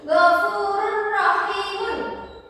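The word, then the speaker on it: غَفُورٌ رَحِيمٌ: Karena ada tanwin bertemu dengan ro, dan ro ini adalah salah satu huruf idgham bila gunnah, maka dibacanya tidak disertai dengan dengung. Jadi ghafurur rahimun.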